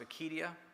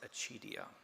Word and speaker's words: Acedia: You might also hear it pronounced Acedia. You might also hear it pronounced Acedia.